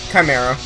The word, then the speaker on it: chimera: It's spelled with a C and an H. Yeah? Not sh.